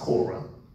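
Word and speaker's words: Korah: person is Cora Cora with a K it's pronounced Cora now Cora led a revolt he he led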